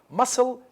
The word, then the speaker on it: muscle: so it is different muscle sessors muscle c see these are not the c is not pronounced in both cases so it is it